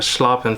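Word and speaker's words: schlappen: What I'm looking for is just something back here that's super webby, almost like a sloppin feather.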